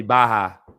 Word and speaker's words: Barra: side they're like yo if it's a double r you gotta roll them bad boys no if it's Double R means the H or this is silent or something it's cool I'm I'm able to take that that critique I appreciate them even caring enough they feel like I think it was the first show you did was it Gracie Barra yeah it was supposed to be Baja yeah I forgot I